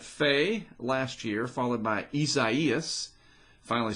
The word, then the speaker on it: Isaias: true we had fey last year followed by isaias finally said it right and then elsa this